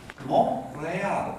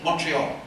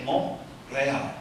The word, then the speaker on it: Montréal: Now, I'm delighted to be here, especially as I will pronounce it Montréal. It's in English you say Montreal, but you say Montréal.